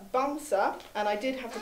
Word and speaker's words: Bamsa: Bernard called Bamsa, and I did have to call up Sunniva this morning to check the pronunciation. It means teddy bear in Norwegian. So Bamsa, the St.